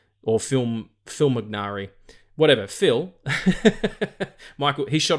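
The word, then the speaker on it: Fimognari: n a r i fil minari I think it is I don't think you would pronounce the G or film Phil mcari whatever Phil Michael he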